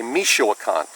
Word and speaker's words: Michoacan: uh similar to distal but it's called a michoacan that's spelled m i c h o a c a n michoacan it is extremely similar to tie it's